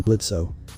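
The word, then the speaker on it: Blitzø: gets to live also do not pronounce the O in my name and who put it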